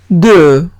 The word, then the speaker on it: deux: Siguiente palabra es deux. Deux. Deux significa dos tengo una E y una U, se pronuncia como una E francesa, se pronuncia E.